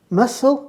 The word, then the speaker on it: muscle: would you focus on muscle and receipt have a silent letter so we'll need a